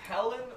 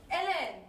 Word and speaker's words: Ellen: Is it Helen or Ellen? Ellen.